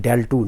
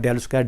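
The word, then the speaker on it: ∇²: we write del 2 the pronunciation del 2 not del square del 2 like this you have del dot l we write it del 2 you marry del square but proper is del 2 now i will give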